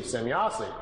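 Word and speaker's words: Semyase: He was trying to make some, write it down phonetically how the name sounded to him. So he wrote it out, S-E-M-Y-A-S-E, Zemyazi.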